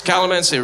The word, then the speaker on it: calamansi: find out how you say it but it's calamansi referral its currency and then we got pokey